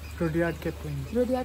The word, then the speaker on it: Rudyard: If you know Jungle Book, the author, uh, what's the pronunciation? Rudeyard or Rudyard? - Rudyard* Kipling says...